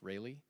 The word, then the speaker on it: Rayleigh: This is called a Rayleigh distribution, spelled like Raleigh, but pronounced Rayleigh.